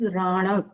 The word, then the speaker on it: Ranak: Ranak or Ranak. The particular connotation is Ranak. This is the exact pronunciation, Ranak.